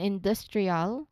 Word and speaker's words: industrial: Following this, we have the DR cluster in industrial. Okay. This longer word clearly demonstrates a medial cluster that bridges syllables. So it's the D sound directly preceding the R sound or the R sound. Okay, in industrial. As with initial der, avoid letting it sound like a J sound.